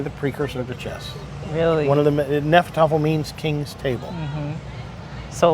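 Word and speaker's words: Hnefatafl: He's teaching Nefertafel now. The H is silent. Mm-hmm. Nefertafel was played from 400 BC to 1000 AD, and in 1000 AD, chess came into being.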